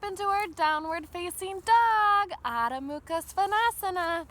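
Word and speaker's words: Adho Mukha Svanasana: our downward facing dog odda mukha svanasana that's how they say it in the ancient Sanskrit text how they named all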